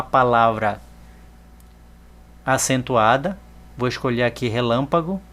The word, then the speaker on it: relâmpago: Observe que a palavra relâmpago tem o acento circunflexo no lã.